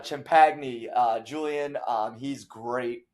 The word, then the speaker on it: Champagnie: I always say Champagnie, but it's uh Champagny.